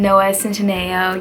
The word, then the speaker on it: Noah Centineo: can probably hear me talking about books and Noah Centineo.